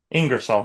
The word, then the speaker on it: Ingersoll: His name is Ingresol. Uh actually, how do you say your last name? Is that correct? Ingresol.